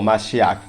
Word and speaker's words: Mashiach: En las religiones abrahámicas, el Mesías, con su pronunciación del hebreo como Mashiach, que significa ungido, llega